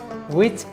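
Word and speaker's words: which: এটা উচ্চারণ কিন্তু হোয়াই না, হোয়াট না, হোয়েন না, হোয়ার না, হোয়াট, ওয়েন, ওয়ার। ঠিক আছে, ওয়াই যে কারণে, হাউ যেভাবে, হোম যাকে, হো যে, উইচ যেটি, হুইচ না, উইচ যেটি, হাউস যারটি, হাউ মেনি যতগুলো, হাউ মাছ যতটুকু।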